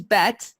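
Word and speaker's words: Bett: You're not mishearing it. It's spelled B-E-T-T. There's no H's. Some people continue to call me Beth, even though I remind them continually that there's no H in my name.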